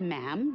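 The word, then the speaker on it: ma'am: um and after that it's just mam rhymes with jim and it's always a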